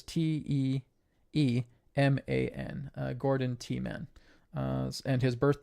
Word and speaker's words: Tiemann: That is Teemen. Sorry, is it Tim? Sorry, it's. Let me go back. His last name is Teeman.